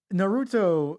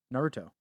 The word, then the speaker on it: Naruto: Naruto. That's an emphasis on the na, right?